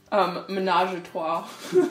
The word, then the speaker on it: ménage à trois: Donc, comment vous le prononcez? Ménage à trois.